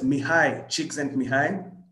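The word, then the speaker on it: Mihaly Csikszentmihalyi: like and that's what uh that name is pronounced as mihai cheeks and mihai so he's a hungarian american psychologist so these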